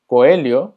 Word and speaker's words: coelho: Coelho, como puedes imaginarte, significa conejo. Recordando que la LH se pronuncia como li, entonces es coelho.